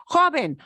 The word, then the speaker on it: joven: Joven ends in an N. Words that end in a vowel or N or S. This happens to end in N. Joven. Joven. Joven. Joven. Two syllables. Second to last is a jo. So it's joven.